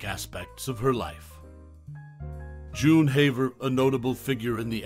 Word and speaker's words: Haver: a role in her life and career June Haver whose surname is pronounced Haver not hav was a notable figure in the